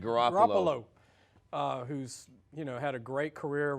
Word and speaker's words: Garoppolo: Garoppolo.